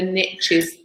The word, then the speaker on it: niche: And the riches are in the niches, as the Americans say.